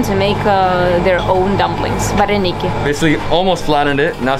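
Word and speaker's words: вареники: Vareniki. Vareniki.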